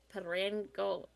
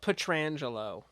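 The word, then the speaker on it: Pietrangelo: Alex Pedrango, I can't say it tonight. Petrangelo.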